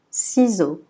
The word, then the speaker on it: ciseaux: Toujours le X à la fin, on ne prononce pas. Donc on dit ciseaux.